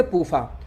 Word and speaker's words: PUFA: तो पूफा शॉर्टकट में हो गया, PUFA। इसको शॉर्टकट में पढ़ेंगे पूफा।